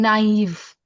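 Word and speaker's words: naïve: N A I French properly it should sound like nave but maybe IQ there is a trema which makes the sound naive.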